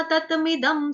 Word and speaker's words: तत: इस पे गलती से कई बारी आघात आ जाता है, तत्त ऐसे होता है, तत्त नहीं करना। तत सिंपल है, त तरबूज तत।